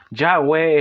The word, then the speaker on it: Yahweh: En este caso acá no se nos nombra a Dios como Jehová, sino que se dice, se pronuncia como Yahweh, el por qué hicieron el cambio.